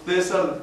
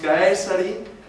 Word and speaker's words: Caesar: estudiaste latín recordaréis que la c en latín suena K Así que no decimos César decimos caesari y decimos textus Reus